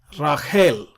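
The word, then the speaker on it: רָחֵל: of times it's mentioned Rael is Rachel Rael Sara which is Sara in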